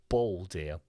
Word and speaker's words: bold: bold예요. bold. 오유 발음이 좀 나야 돼요.